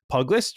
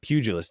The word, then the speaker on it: pugilist: combat I I I started off as a pug list or as a pug pist pugilist thank you yeah I was like I don't